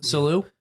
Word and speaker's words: Salu: on Salu Park. Oh my! I always get called on how I pronounce that. S-A-L. Salu.